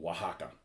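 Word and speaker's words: Oaxaca: in central part of Mexico it's place called Waka which is spelled wakaka o a o a x um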